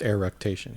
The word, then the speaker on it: eructation: c tation irritation air rotation or e-roctation it's pronounced air rectation I looked up the pronunciation because I want